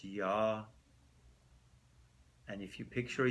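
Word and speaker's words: יה: Now the Yud-Kei Vav-Kei of Keter is pronounced with a ah sound, so it's Yah.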